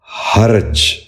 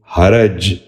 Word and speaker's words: حرج: لفظ ہے حرج۔ یہ غلط تلفظ ہے، درست تلفظ ہے حرج۔ دوبارہ غور سے سنیے، حرج۔ بچوں آپ بھی غور سے سنیے، حرج۔ تیسرا لفظ ہے حرف۔ یہ غلط تلفظ ہے،